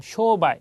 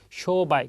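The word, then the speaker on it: 商売: 있는게 많이 쓰는 말이나 쇼바이 장음이 들어가 있습니다 앞에 쇼가 길어요 그래서 쇼바이 그러면 장사라는 의미가 됩니다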